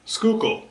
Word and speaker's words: Schuylkill: these things i don't this is the schuylkill river schuylkill that's how you say it and this is the